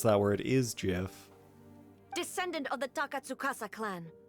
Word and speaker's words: GIF: you just say jeff i did say gif large poggers that is my chosen pronunciation because i follow the creator's intent shogun what are you wow all right large pockets wow all right see so to understand who i am large bloggers i am someone who generally makes choices based on pure logic and the most logical pronunciation for that word is jif if you you know